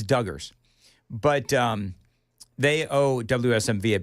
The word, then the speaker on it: Duggars: Yeah, I mispronounced. It's Duggars, but they owe WSMV a big thanks.